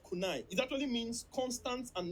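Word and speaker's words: Kaizen: As a Japanese word that is called kunai, it is spelled KNEI. It is called kunai.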